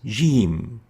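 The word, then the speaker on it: جيم: lingual palatal letter the name is jim as in jeep but replacing the p with an m jim jim so we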